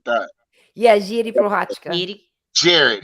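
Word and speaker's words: Jiří Procházka: It's spelled Jiri, but you pronounce the R like a D, kind of almost like the Portuguese thing, where it's like Jiri Prochazka.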